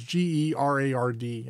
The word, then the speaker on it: Gerard: I'm not sure how I pronounce it. It's G-E-R-A-R-D. I think it's Gerard. Sounds good to me.